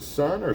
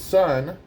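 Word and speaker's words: Sunn: Is it Sun or Sun O, or how do you say it?" He's like, "It's Sun. You don't say the O part."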